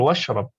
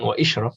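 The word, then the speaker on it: واشرب: Kul washrab. Jadi bukan wa ishrab, langsung aja washrab.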